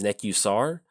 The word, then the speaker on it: Nekusar: so also I know the correct pronunciation is neck.you SAR but i'm dyslexic or